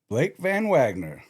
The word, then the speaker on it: VanWagner: Blake VanWagner.